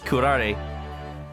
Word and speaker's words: curare: Oops, curare.